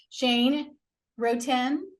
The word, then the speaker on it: Shane Roten: I've got Shane Roten. Is that how you say it? Correct. Yep. Yes.